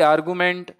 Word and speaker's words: argument: देखिए सी इसका बिल्कुल सही है, आर्गुमेंट। अब इसको याद रखने का मैं आपको एक प्रोनाउंसिएशन बताता हूं, दैट इज आर्गुमेंट। क्या है? आर्गुमेंट। मेंट, इसको ऐसे बोला करो आर्गुमेंट। अब यहां पर आपको आर्गुमेंट बोलोगे तो आपको GU तक ही सुनाई देगा, यहां पर ई की प्रोनाउंसिएशन नहीं आएगी। और मेंट में ऑलरेडी क्या है, ई लगा हुआ है, ठीक है।